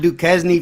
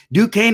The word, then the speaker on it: Duquesne: bad duquesne has been it's not duquesne for some of those um i do use that to spell it but ducane has been awful you know you